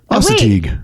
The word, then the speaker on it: Assateague: Assateague. We looked at this up. Yeah. Assateague Island.